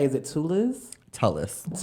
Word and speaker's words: Tulliz: Tulliz. Tulliz.